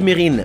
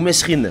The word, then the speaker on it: Mesrine: Voilà Jacques Mesrine, ou Mesrine selon certains mais il paraît qu'il n'aimait pas que l'on le prononce comme ça alors shhh.